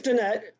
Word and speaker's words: Danette: do you prefer uh my name is danette if you ever play volleyball the ball goes over danette that's how you say it okay thank you so